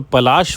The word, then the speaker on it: पलाशी: था पलाशी पलाशी तो ब्रिटिशर्स इसको स्पेल नहीं कर पाते थे प्रोनाउंस नहीं कर पाते थे पलाशी को तो व पलाशी से प्लासी हो गया इसलिए इट is known as battle of Plassey यह देखिए यह तब